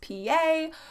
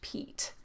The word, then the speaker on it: Piet: That shortened form of his name, Piet, looks kind of French, so people sometimes mispronounce it as Pee-yay or Pee-yet, but it s really just Pete.